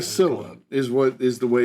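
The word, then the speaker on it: Cäzilia: It's what they call Casilla is the way it's pronounced.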